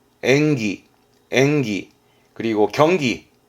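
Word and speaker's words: 演技: 발음은 토끄기. 토끄기. 특기의 토끄기. 이거 말고도 많았습니다. 기술의 기주츠, 기주츠. 그리고 연기하는 건 엔기, 엔기.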